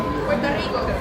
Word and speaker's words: Puerto Rico: Puerto Rico. Puerto Rico. You said it right to Puerto Rico. Got to roll that.